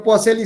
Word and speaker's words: Poiseuille: Se pronuncia Poiseuille y se escribe Poiseuille.